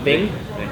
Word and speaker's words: Ving: Is that how you pronounce it? Yeah. Ving.